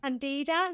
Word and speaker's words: candida: So yeast overgrowth you've spoken about candida did I pronounce that right?